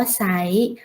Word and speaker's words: ไซร้: จริง อ่าน ว่า จริง ไซร้ อ่าน ว่า ใส เศร้า อ่าน ว่า เศร้า